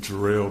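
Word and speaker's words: Jarriel: I am Jerel Man.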